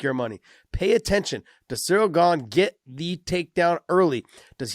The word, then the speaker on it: Ciryl Gane: They're like, oh my God, he says cereal. Oh, who gives a crap, guys? Ciryl Gane. Okay. He's not offended, all right? I'm sure people mispronounce his name all the time. I think you're saying it more French than anybody else there, Josh.